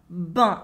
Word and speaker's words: ben: She uses ben twice, which is the French pronunciation in everyday spoken French for bien, the adverb that means well. We say ben instead of bien.